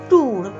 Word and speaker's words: tour: TOUR, দেখো এটার উচ্চারণটা কি? একবারে আমরা বলবো ট্যুর। ট্যুর মানে কি?